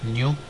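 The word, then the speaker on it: ν: is uh denoted by new which is pronounced new and that is equal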